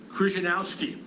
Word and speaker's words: Krzyzanowski: So I'm going to take a liberty, and I'm going to pronounce his name the way I learned growing up in North Jersey in the 1950s and 60s with all my Polish friends.